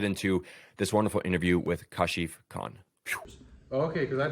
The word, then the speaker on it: Kashif: I have with me here Kashif. Yes, sir. Correct pronunciation?